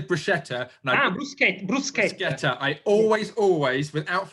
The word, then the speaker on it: bruschetta: UK and in Italy, bruschetta, because it's no sh, it's a sket sound.